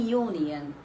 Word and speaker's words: union: i'm repeating like j the sound is pronounced as yo what yo so it is a consonant sound it comes in the